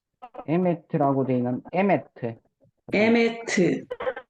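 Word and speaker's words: אמת: 정미연님, 자, 에메트인데 여기 강세가 알렙에 들어가는 것이 아니라 맴에 들어갑니다. 쉐바는 강세 받지 못합니다. 반모음이 어디 강세 받겠습니까? 그래서 에메트에서 두 번째 발음되고 우리나라는 에메트 세 발음되지만 히브리어에서는 완전한 모음만 음절로 취급되어서 완전한 모음은 쉐골이라고 맨 밑에 하나밖에 없어요. 그래서 에메트에서 한 발음으로 발음됩니다.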